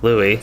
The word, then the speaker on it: Louis: so william your brother's name is uh lewis pronounced louie so louis pronounced louis yeah that's one thing